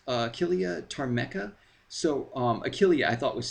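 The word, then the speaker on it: Achillea ptarmica: But it's basically pronounced Achillea tarmeca.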